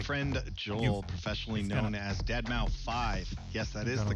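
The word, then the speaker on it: deadmau5: You know, the moment John said this has been a good show, your friend Joel, professionally known as Dead Mau 5. Yes, that is the correct way to pronounce it.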